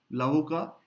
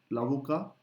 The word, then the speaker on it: l'avocat: L'avocat, I'm skipping the T in the masculine version. L'avocat, l'avocat.